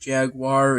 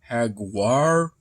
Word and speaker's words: jaguar: not spelled i mean it's not pronounced jaguar it's pronounced hagwar more like because where